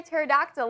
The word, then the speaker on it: pterodactyl: Why can't you hear a pterodactyl when they go to the bathroom? I don't really know. Because the P is silent.